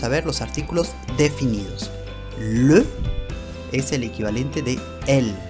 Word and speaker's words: les: En francés siempre va a ser le, L-E-S, se pronuncia le, como si fuera una E con acento agudo, le.